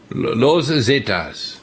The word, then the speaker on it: Los Zetas: The Zetas, that's how do you pronounce it? La Zeta? Los Zetas.